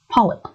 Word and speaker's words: polyp: I know if most of you are watching this video and you are having an Arabic accent, the P's tend to be confused and you pronounce them as B's.